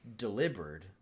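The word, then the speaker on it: Delibird: I saw something and it said Deli Bird. is kind of should be not necessarily is supposed to be but it should be pronounced delivered like delivered and I was like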